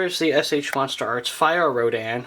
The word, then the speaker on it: Rodan: the SH monsterarts fyor Rodan or rat on if you go by how the movie pronounces it and the revoltech show